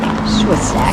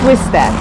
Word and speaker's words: Swistack: So your dad Yes, is John William Swissack. Swistack is how they say it.